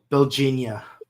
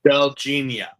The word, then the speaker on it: Belgia: That's why I'm like with the our introduction to um help me pronounce his name. Belgia. Belgia. Yeah. Like Virginia, but Belgia.